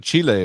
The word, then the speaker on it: Chile: or somewhere and uh that way Chile because that's how they say it I try to respect the native peoples and the way they pronounce like I would pronounce your name if you had an unusual name I would pronounce your name the way you would like to have it pronounced so well you know what it's it's a country Chile is what it's called Chile no Chile Chile that's